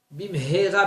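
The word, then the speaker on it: במהרה: bien prononcer les mots, bim hera beyamenu, et pas bim hera shemishmor. Avec un Aleph, c'est malédiction. Avec un He, c'est vite.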